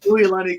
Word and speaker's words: Uilani: Yeah, it's pronounced Uilani Ku'ule. She's actually Hawaiian, and they taught me how to pronounce names and use their language, so it was pretty nice for me to figure out.